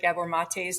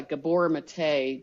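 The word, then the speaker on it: Maté: addiction yeah he's a Gabor mate g a b o r m a t e and then uh the E is pronounced a mate he um he was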